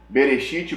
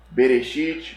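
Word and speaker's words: בראשית: céus ea terra esse é gênesis 11 é bereshit bará elohim ramarim flat rarest é em hebraico a pronúncia de gênesis 1 olha que coisa curiosa gênesis 1 tem sete palavras em hebraico berechit bara elohim et hashamaim vet rarest 7 lá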